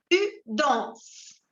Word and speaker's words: danses: Tu danses. Vous ajoutez ES, mais vous ne les prononcez pas.